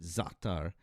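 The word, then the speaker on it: za'atar: t a r and you pronounce it zatar with that in the in the your apostrophe there is kind of like is is indicating that to you like that's the um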